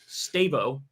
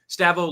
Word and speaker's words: Stavo: Also, it's pronounced Stavo. Oh, I said Steve. Stavo like Gustavo.